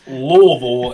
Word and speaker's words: Louisville: Whenever you pronounce Louisville as Louisville, it's Louisville.